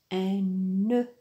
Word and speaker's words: nœud: le son e et il s'écrit o e u nœud le dé à la fin ne se prononce pas deuxième mot un poteau